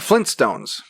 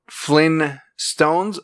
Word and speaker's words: Flintstones: of these um the flintstones is it flynn stones or flint stones flint flintstone meet the flintstones flint it's got to be flint it's flint okay speaking of speaking